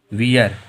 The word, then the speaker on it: wear: WEAR, WEAR में जो ए आ रहा है वो ई के बाद में आ रहा है, तो फिर से साइलेंट हम लोगों का है, इसे क्या पढ़ेंगे? वियर। क्या पढ़ेंगे?